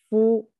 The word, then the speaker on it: 夫: 个字我们刚才说它读作夫， We call the pronounced 夫.